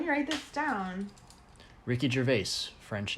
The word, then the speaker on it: Gervais: He was saying his name is like, I think technically it's pronounced like Gervais, and Americans pronounce it Gervais, but it's Gervais with a Z sound.